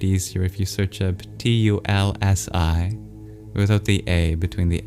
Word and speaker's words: Tulsi: So you'll probably find it easier if you search up T U L S I without the A between the L and the